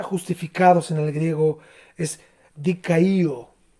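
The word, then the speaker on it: δικαιόω: Aquí la palabra justificados en el griego es dikaio, o también se pronuncia dikaio, porque tiene una doble O final.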